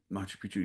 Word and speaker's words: Machu Picchu: So like she's going to, is it pronounced Machu Picchu? Machu Picchu, yeah.